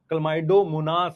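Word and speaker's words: Chlamydomonas: sure बोल सकता हूं बहुत सारे बच्चे इसको ठीक से प्रोनाउंस नहीं कर सकते कलमाइडोमोनास है कलमाइडो मोनास क्लोरेला स्पाइरोगा यूलोथिक्स कारा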